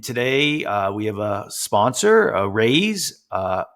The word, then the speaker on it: Araize: And today we have a sponsor, a Raise. It's spelled A-R-A-I-Z-E.